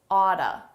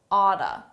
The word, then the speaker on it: ought to: So here, ought to, a very common reduction, oughta, oughta. Ought to is a modal verb used to express necessity. More commonly, you should call her, but you can also use ought to. You oughta call her. In spoken English, native speakers will say oughta the majority of the time.